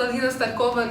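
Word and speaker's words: Алина Старкова: Hi, as Russians here, it's pronounced Alina Starkova normally because the women that you add an A to their name.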